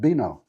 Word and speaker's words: vino: got a couple here v for example is pronounced like a b so here am i asking for vino all the time actually it's pronounced bino so that was a